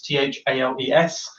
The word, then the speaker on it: Thales: Again, a nice easy one to mispronounce, spelled Thales, Thales.